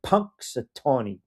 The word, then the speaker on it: Punxsutawney: Matt in Delaware with the final word says, Q, I'm shocked you actually pronounced it the right way. Punxsutawney.